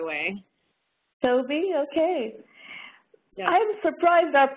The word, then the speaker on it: Laurel Touby: It's pronounced Laurel Touby, by the way. Touby, okay.